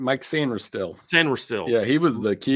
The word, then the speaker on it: Sainristil: Sainristil? How do you say his last name? Mike Sainristil. Sainristil.